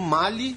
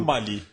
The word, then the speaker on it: Mali: Mali ou Mali? Eu falo Mali. Mali eu acho que a pronúncia francesa, né? Como mal era colônia francesa. Aqui tem um amigo da Guiné Bissau que é vizinha e que se refere como mali. Ah, acho que estão valendo as duas, entendeu?